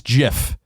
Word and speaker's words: GIF: The creators of the format pronounce GIF as GIF, with a short G as in gin.